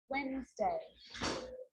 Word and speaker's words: Wednesday: can be silent too wednesday handsome sandwich so i'm not pronouncing the d in sand to which i'm just pronouncing the consonant n sound before try it listen one